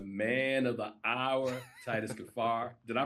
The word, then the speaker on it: Kaphar: the man of the hour Titus gafar did I pronounce that correctly yes you did yes you